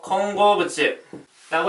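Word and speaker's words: 混合物: 혼합물은요, 일본어로 콩고부츠라고 읽어주시면 되겠습니다.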